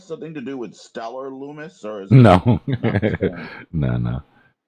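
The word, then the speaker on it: Lummis: to do with Stellar Lumis or is no no no it just sounds it just sounds the same that'd be the best plot twist ever well I think her name's pronounced lamus yeah Lumis lamus whatever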